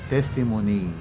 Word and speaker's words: testimony: Testimony kundi testimony. Ang kanyang stress ay nasa first syllable po, testimony.